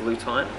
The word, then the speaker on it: lutein: the body so I just realized monthly pronounced lue time so lutein and zeaxanthin